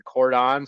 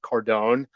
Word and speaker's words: cordon: usually have horizontal wood we call that the Cordon some people pronounce it cordone um that's that's horizontal